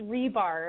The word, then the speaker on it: Ribar: how do you say your last name it's rebar I think you might have said it right